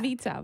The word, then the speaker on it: Veta: The way I met Veta, do you say her name Veta or Veda? Vita. Vita. Veta.